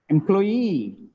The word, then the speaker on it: employee: second syllable second element the second syllable is stressed that means the last syllable stress not second last syllable stress questionnaire questionnaire employee i am an employee